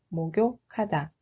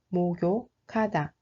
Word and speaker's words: 목욕하다: The ninth is 목욕하다. That means to take a bath. The actual pronunciation is 목욕하다, 목욕하다.